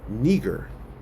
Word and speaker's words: Niger: It says Niger is pronounced Niger, right? It says of Latin origin, which means black.